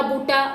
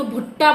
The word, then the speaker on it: बुट्टा: एक इन्होंने गाना जो गाया था इमली का बुट्टा। बुट्टा को इन्होंने भुट्टा बोल दिया।